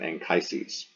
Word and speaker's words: Anchises: So that's Anchises in English. We say his name Anchises.